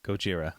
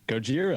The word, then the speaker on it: Gojira: yellow is uh how do you say shogira gojira ojira gojira i don't even know why i can't say